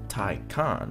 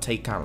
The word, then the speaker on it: Taycan: The Taycan, pronounced TIE-kahn, not Taycan like what is said, is at least as important to Porsche as the first generation Cayenne.